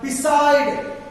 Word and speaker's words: beside: మీద స్ట్రెస్ చేస్తాం like beside we are taking a long sound s in the s and the stress marks fall in the second syllable this is the first